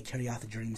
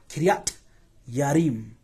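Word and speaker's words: Kiriath Jearim: Because the J doesn't exist in Hebrew either. It's a Y. And I can't stand the way Kiriath Jerim sounds. It sounds stupid. But the proper pronunciation is Kiriat. Kiriat Yarim.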